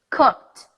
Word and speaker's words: cooked: verbs in the past I go from the con to the tea straight I don't say the e I don't mention it so I'm gonna say cooked cooked danced danced helped